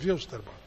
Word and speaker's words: Wilstermann: não tá entregando e Poxa contra o Jorge wilsterman você surpreendeu que eu falei wilsterman é por wilsterman é porque el mão não